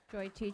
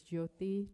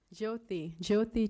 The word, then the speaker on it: Jyoti: First of all, my name, you mispronounced it. It's Jyoti. Second, what's that? Jyoti. It's an Indian name.